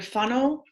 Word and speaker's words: whānau: So the W and H is pronounced like pho because you say whānau, Yes.